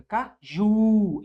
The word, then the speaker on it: caju: Caju, sílaba tônica. Caju. É a última, não é verdade?